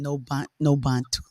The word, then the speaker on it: Nobantu: And I love my name, no Bantu, You start no with an N. Bantu, It's spelled with an N, right? Nobantu, Okay.